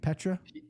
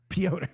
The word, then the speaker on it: Piotr: I think it's, would you say Petra? Piotr.